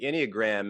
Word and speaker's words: Enneagram: and the wait, how do you Yeah, the pronounce it? Enneagram.